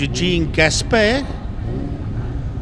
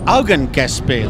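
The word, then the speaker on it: Eugen Gaspar: Augen Gaspar, that's right. Yes, well, I got the surname right. Augen Gaspar. It's spelled exactly the same as Eugene. It just doesn't have the E on the end.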